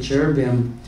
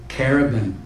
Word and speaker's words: cherubim: A lot of people pronounce the cherubim cherubim, but it's actually chair, like C-H-A-I-R.